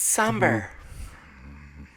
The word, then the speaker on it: Sumber: to help him, It's Sumber. My name is Sumber with the B. Right. The B is silent.